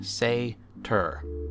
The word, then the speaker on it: Satyr: enchanter and I looked it up it is pronounced seder say tur so there you go Shimmer Wing Chimera I